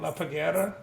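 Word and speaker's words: La Parguera: It's I've made some YouTube videos about Cabo Rojo and La Paguera. Did I say that right? La Paguera.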